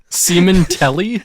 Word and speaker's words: Sementelli: 3 years ago, 1 star, Google user Angela Sementelli, and it's spelled exactly how you would think. Sementelli? Sementelli. Like someone came on the television in England? Like, oh, there's semen all over my telly.